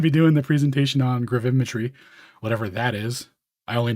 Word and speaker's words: gravimetry: Gravimetry. Gravimetry. What's wrong with gravimeter versus gravimetry?